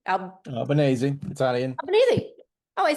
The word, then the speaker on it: Albanese: sanctions on the unapologetically anti-Semitic UN Special Rapporteur for the undermining of Israel, Francesca Albanese. Albanese, Italian.